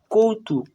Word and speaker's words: কৌতুক: অর্থাৎ কয়ের সাথে ওকার যোগ হয়ে কৌ হয়েছে, তয়ের সাথে হস্য যোগ হয়ে তু হয়েছে আর ক সিঙ্গেল উচ্চারণ হয়েছে, তাই কৌতুক।